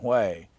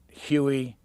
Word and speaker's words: Hue: carried the book around, The Cat from Wei, people under 40 wanted to pronounce it Huey, anything but Wei.